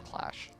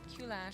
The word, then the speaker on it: Clash: I think they actually just wanted to pronounce Clash. I know, but Q-Lash. Q-Lash.